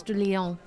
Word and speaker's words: de Leon: Steven de Leon for $5 says, you pronounce my last name like you would say Ponce de Leon.